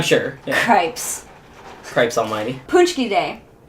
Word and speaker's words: Pączki: Detroit, but you get Pączkis, which are like, you know, the... Which I don't think that's actually how you pronounce it. I think it's Pączki. Because it's Polish.